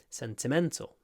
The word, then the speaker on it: sentimental: is so sentimental sentimental I kind of stressed the first and the third syllable sentimental sentimental it's actually on the third syllable though sentimental sentimental but I'm kind